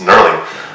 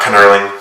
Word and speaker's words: knurling: It's Knurling. The K's silent, so it's not Knurling.